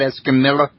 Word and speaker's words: Escamilla: Okay, now that last name's pronounced Escamilla, not Escamilla. Right, Escamilla. Escamilla. The two L's are pronounced like a Y.